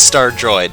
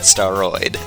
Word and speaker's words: Star Droid: kind of realize oh that's star droid not steroid as i have been pronouncing it for the entirety of the game someone's going to have